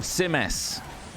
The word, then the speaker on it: Simas: Simas. It's not spelled that We've way. been Not saying it all Simus wrong. or Simas. Simas. Nice. That's a fun one to say now. Actually, more fun. Simas.